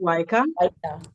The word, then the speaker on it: WICA: So I think I omitted the part where I was supposed to talk about WICA because it is not WICA. So okay. It is pronounced WICA, Women in Infrastructure Community Africa.